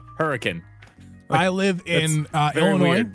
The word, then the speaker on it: Hurricane: try mey it's spelled it's spelled hurricane that's the name of the town but no one calls it hurricane it's called hurricane hurricane like literally like that's that's what they like